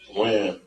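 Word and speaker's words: Wynn: Win or Wen? Win.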